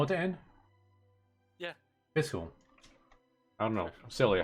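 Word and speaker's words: Fischl: Fiscal.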